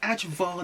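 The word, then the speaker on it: ajvar: I'll say that again spicy Edge VAR dip spelled a j v a r it costs 2.75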